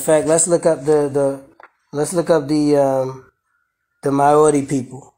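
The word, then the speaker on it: Māori: Maori. Y'all hear it? Maori. Maori. All right, Maori. So the pronunciation is Maori per the international, what is it?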